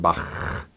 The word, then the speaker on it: Bach: than a K sound more like the German bah but notice it's not ba we don't see Johan a Sebastian Bach but rather you Johannes Sebastian Bach just a